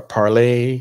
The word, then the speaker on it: Parler: Also, you can get us on Parler or Parlay, however you want to say that. Is Parlay is French, but it's spelled Parler.